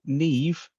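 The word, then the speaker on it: Niamh: Have you seen Neve? It's spelt Niamph. It's NIAMPH. How it's Neve, I'll never get.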